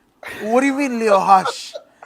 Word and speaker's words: Roque: right he's brazilian right so what is r in portuguese i couldn't tell you h h voice gracie right spacey so if you pronounce it in portuguese he'd be leo hush oh yeah yeah i'm